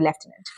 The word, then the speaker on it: lieutenant: entrepreneur is a person leftant is also a person or you can say lieutenant as well the fifth word for The episode is mischievous.